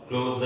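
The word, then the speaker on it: cloth: और बता दूं कि जो क्लॉथ और क्लोथ ये दो अलग शब्द हैं। क्लॉथ की प्रोनाउंसिएशन भी अलग है और क्लोथ की प्रोनाउंसिएशन अलग है।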